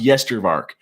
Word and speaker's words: Yestervark: I never notice myself, and the name's pronounced Yestervark as well. So that's the name. That's how you say it.